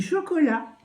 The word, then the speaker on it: chocolat: choco la l a et le T qui ne se prononce pas je pense qu'il est